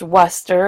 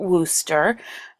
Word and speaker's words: Wooster: And yes, it's pronounced Worcester and not Wooster.